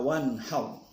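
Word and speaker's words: وانحر: Fasholli keliru, tapi fasholli li rabbika wanhar. Fasholli li rabbika wanhar, di sana tidak ada yang dipanjangkan, tapi bacanya santai saja. Fasholli li rabbika wanhar. Wanhar di sana agak tebal juga karena ro dimatikan oleh fathah.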